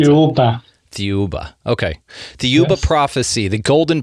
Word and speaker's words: Thiaoouba: How do you pronounce it? Thiaoouba.